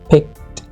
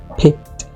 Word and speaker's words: picked: Actual में यहाँ पर हमारा जो वर्ड है ड इस साउंड पर एंड नहीं होगा, हमें अपने वर्ड को एंड करना पड़ेगा ट पर, क्योंकि ये सही प्रोनाउंसिएशन होगी. Okay, picked, picked.